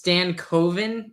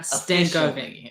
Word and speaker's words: Stankoven: It's Stankoven, not Stankoven.